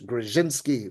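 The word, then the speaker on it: Grodzinski: That's Rabbi Chaim Ozer Grudziński, or some people pronounce it in the Polish Grzinski, like more of that DZ mix, the Grzinski.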